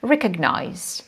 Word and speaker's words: recognize: the right stress because when we come back to the verb we can see that stress goes to the first syllable recognize so we can notice that there is some change in stress and students might encounter